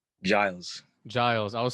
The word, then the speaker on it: Giles: Giles.